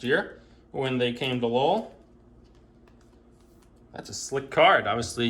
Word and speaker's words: Lowe: manning christian pasche josh lowe who's brothers of nathan lowe so it's not pronounced like brandon lau michael busch gabriel arius